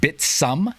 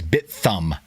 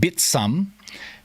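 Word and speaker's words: Bithumb: bit uh it's actually it's actually called bitsum so kind of the um no i'm not being weird that's actually how south korean folks themselves pronounce bit hum it's like think of it as bit thumb but bit some anyway so comes just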